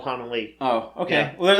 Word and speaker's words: Hanelle: Were we saying like Hanelle? I always thought it was Hanelle Culpepper. Yeah. But it's Hanelle.